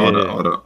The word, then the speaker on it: Automata: Yeah, Nier Automata. It's Automata. Automata. They say it in the game, so now I know how to pronounce it.